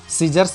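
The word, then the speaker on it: scissors: सीजर्स में भी आप देख पा रहे होंगे एस सी एक साथ आया है तो सी का प्रोनाउंसिएशन बिल्कुल नहीं होगा, सी एस आई से सी हो जाएगा। जर्स, यानी कि जैसा कि इसके पहले मैंने बताया था कि एस से ज भी होता है तो यहाँ पर एस का प्रोनाउंसिएशन हम ज कर लेते हैं, सीजर्स कैंची।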